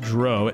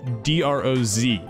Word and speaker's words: Droz: But while you're at that, you can hit up Mitch Droz. It's actually spelled D-R-O-Z. So I was pronouncing it Mitch Droz, which I'm sure literally everybody does.